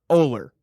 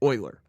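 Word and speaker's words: Ohler: not hard to pronounce it's owler o-h-l-e-r how do people pronounce it come for me i don't care but i get such weird pronunciations yeah for my last name so the common one and my dad will agree because he he's gotten this his whole life too the common one is euler what in there is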